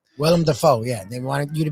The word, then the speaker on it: Willem Dafoe: But, yeah, I guess that would be, William Defoe? Willem Dafoe, yeah.